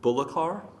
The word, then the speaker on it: Bullokar: a man called William Bullock our that's how I'm gonna pronounce it that's probably the best way Bullock rbu ll o